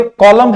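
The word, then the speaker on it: column: science ही पढ़ते हैं यहां पे कॉलम है लास्ट में एन आया है लेकिन ए को हम प्रोनाउंस नहीं करते हैं साइकोलॉजी के स्टार्टिंग में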